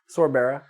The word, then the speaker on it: Sorbera: Sorbera.